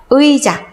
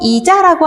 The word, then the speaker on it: 의자: 의자. 이거를 의자라고 하는 사람 없고, 이자라고 하는 사람 없죠? 의자 발음 어떻게 한다? 의자. 표기대로 이중모음을 살려서 발음합니다.